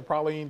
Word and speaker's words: praline: Brooke is not how we say it here. It is praline. No, you guys. And praline. I'll say it one time for you guys. Praline, just because that is how LBJ's sister made said.